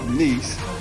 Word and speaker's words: Nice: I am in the country of France, south of France in a city called Nice, but it's spelled like nice.